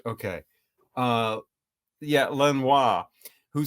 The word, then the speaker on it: Lanois: Lanois. Lanois. I never can remember how to say his name. French, not Spanish. Okay. Yeah, Lanois, who said it's the CD era, put their best songs in the front.